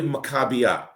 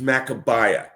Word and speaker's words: Maccabee: So for years we called it Maccabee Games, and it's really Maccabee. The one thing it isn't is Maccabee.